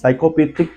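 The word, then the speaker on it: psychopathic: पी ए टी एस साइकोपैथिक का मतलब होता है मनो चिकन दैट इज वई यहां पर भी आप ध्यान से देख सकते एस के आगे पी दिया गया है ट प साइलेंट है एक बार सारे वर्ड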